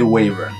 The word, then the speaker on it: wyvern: it's WN wait WN wyvern waver I usually say waver and you say I don't know I I think this is like the most like pronunciation variant word I know of okay finally